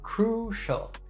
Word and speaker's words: crucial: crucial is pronounced as crucial with the emphasis on the first syllable finally let's look at